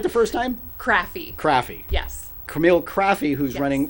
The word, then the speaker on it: Craffey: Craffey.